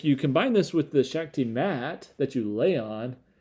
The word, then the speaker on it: Shakti: feels and it and this is the the Shakti is how you pronounce it shaky mat pressure acupressure pillow kind